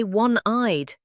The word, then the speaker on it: one-eyed: We say one-eyed, a W sound, not a vowel.